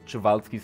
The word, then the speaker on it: Przewalski: There are, I think, a dozen different pronunciations around out there. And yeah, the only correct one is Przewalski's horse.